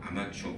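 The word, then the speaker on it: armature: 아마추어 아마추어 프로 아마추어 아마추어 그 아마추어고 스펠링은 조금 다르지만 발음은 거의 같죠 아마추어 아마추어 그래서 전기자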